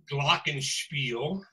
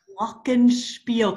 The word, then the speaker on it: Glockenspiel: Glockenspiel. Glockenspiel. Can we say it all together really slowly? Glockenspiel.